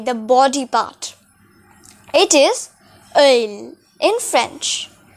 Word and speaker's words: œil: It is œil in French. How am I pronouncing it?